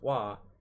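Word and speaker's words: は: level ha as far as particles go are pronounced wah and wool is pronounced oh now this might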